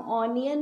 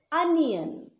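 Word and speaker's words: onion: प्याज स्पेलिंग तो है ओ एन आई ओ एन, पर हम ऑनियन नहीं बोलेंगे, क्या बोलेंगे, अनियन। प्लीज याद रखिए अनियन नॉट ऑनियन।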